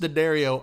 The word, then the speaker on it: D'Addario: It's pronounced D'Addario, I think, right?